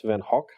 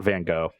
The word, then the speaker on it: van Gogh: Vincent Farrell however though you're supposed to pronounce this crazy Dutch name since event hawk yeah it's like it's I know it's a letter that is hard for English speakers to pronounce because it's not quite an H but it's kind of throaty but it's not van Gogh I'm just being pretentious